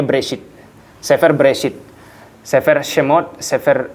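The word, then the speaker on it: בראשית: Ini bacanya Bereshit.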